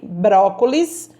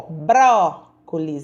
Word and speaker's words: brócolis: o no primeiro o brócolis eu falei a sílaba bro mais forte tão brócolis eu aceito